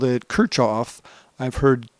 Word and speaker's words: Kirchhoff: internal resistance kerkoff's rules I've heard this name pronounced a bunch of different ways my teacher at school called it Kirchhoff I've heard kerckhoff I've heard kerckhoff so I looked it up